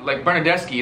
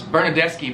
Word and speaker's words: Bernardeschi: You pronounce it ch. Ch. So like, Well, no. Italian soccer players like Bernardeschi is one of the names. Bernardeschi, but it's his name.